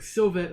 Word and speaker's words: Sylvester: It's like Sylvester, like the cat Sylvester.